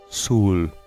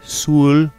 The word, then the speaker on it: Soule: Oblivion, Morrowind, Jeremy Soule. That is the way his last name is pronounced.